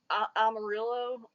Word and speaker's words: Amarillo: I think it was called Amarillo. Is that Amarillo? how you Yeah.